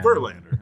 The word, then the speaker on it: Verlander: No, you're just like overemphasizing all of the wrong syllables right now. Verlander, that's it.